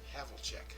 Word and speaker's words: Havlicek: 36 field goal attempts I gotta correct you on the pronunciation because he is such a great basketball player in his day John Havlicek John Havlicek havelcheck Havel check there you go huh that's weird there's